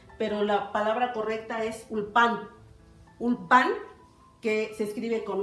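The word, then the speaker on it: אולפן: estudiosos comparan la palabra ulfana, pero porque él está dando una pronunciación sefaradí, pero la palabra correcta es ulpan.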